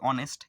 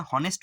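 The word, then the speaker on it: honest: কিন্তু উচ্চারণ কিসের মত হচ্ছে ভাওয়েলের মত হচ্ছে অনেস্ট এর মত উচ্চারণ হচ্ছে কথাটা হনেস্ট নয় কথাটা অনেস্ট অদন্ত নয় দন্তস টয় তো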